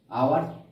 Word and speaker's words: hour: আওয়ার, HOUR, এইচ এর উচ্চারণটা হচ্ছিল না, আই এর উচ্চারণটা আসছিল।